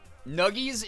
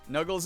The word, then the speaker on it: Nuggies: Nuggies is the correct pronunciation. Nuggles is good, or Nix, you're chill.